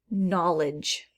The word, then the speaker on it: knowledge: this silent g heading knowledge knowledge okay well there's a k at the beginning do we hear any sound at the start nope i'll put that with a silent k through through i think